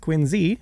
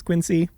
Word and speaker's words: Quincy: In 1946, he founded Industrial Lunch and Services in Quinsey, Massachusetts, which yes, is pronounced Quinsey. Everyone says Quincy.